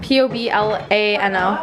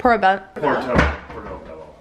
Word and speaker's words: poblano: P-O-B-L-A-N-O. Portobello. I don't know. How do you say that, honey? I didn't even say that. Pork and poblano. Pork and poblano tacos.